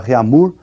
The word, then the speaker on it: Réaumur: é a escala Réaumur, que nós vamos pronunciar Réaumur, né, que é aportuguesado de novo, né, e essa escala